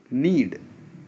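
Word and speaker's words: knead: बोल ते नीर के एंडी के इसमें साइलेंट एंड नीड नीड जिससे आपको आपके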